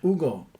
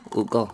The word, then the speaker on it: Hugo: Yeah, but the H in Spanish is silent.